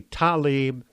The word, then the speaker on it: Tlaib: Rashida Tlaib, spelled Tlaib, so I keep saying Tlaib, but others say Talib, how Tlaib can be pronounced like Talib, I don't know, but that's neither here nor there.